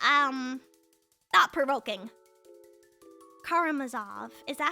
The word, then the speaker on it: Karamazov: Um, like the brothers, uh, I always say it wrong. I don't know how to really say it. Uh, Karimov, Karimov.